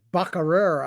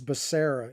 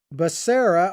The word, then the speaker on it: Becerra: is it i abide mispronounced as baccarat i think is what he said and i think it's becerra is his name alone but you know